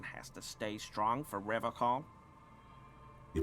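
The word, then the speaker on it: Revachol: But someone has to stay strong for Revacol. He pronounces Revacol with a hard K, unlike other people.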